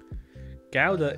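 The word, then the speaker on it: Gouda: wall glass pane what gowda is pronounced with a guttrell G ouda was that I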